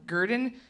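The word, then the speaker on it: Grdn: in Brooklyn but uh they spell it gr d n so Gurdon and you know for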